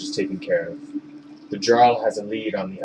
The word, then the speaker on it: Jarl: It's Scandinavian, it's Jarl.